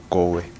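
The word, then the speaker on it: Garwe: uh witness number 28 which is Alice uh Go Hair witness statement can be found in in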